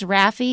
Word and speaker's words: Raffi: His name is Raffi. It's spelled R-A-F-F-I, and the name of the song